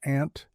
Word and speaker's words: aunt: Some people say they think I'm saying ant as in the um and I do pronounce it exactly the same. The ant, the crawly animal, crawly little insect.